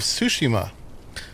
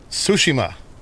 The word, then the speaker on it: Tsushima: Can't say it right. Tsushima. Seems like what they were saying. Tsushima. Kind of the accent on the ma, I think.